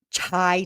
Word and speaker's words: chai: Chai tea is pronounced like CH, like chicken, like chai, right?